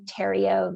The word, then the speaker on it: Theriot: Theriot, we mentioned that there would be a special